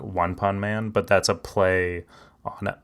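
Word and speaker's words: ワンパンマン: did you know that one punch man in Japan is called one pun man like that's how they pronounce it because like they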